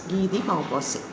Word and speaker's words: Guy de Maupassant: the author, Guyde and you will pronounce it as Guy de Maupassant.